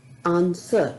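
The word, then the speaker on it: answer: पाते हैं खुद को यहां पर डब्लू जो लेटर है वो साइलेंट है इसी तरह से रंग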